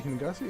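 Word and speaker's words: Hingashi: place and both um hingasi hingasi is how you pronounce it hold on yeah and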